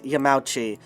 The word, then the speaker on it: Yamauchi: yamauchi but uh the there's a kind of compression of vowels that that happen when you do uh